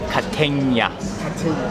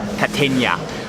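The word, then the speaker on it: Kategna: It's called, you pronounce it Catenia. Catenia.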